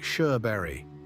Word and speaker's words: Sjöberg: It is spelled s j ö b e r g, and it sounds like Sherbury. That opening s j is a deep Swedish sh that exists nowhere else on earth, and the uh you already know.